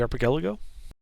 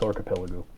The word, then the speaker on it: archipelago: not the what the arelo Yeah that thing am I mispronouncing it it's archipelago oh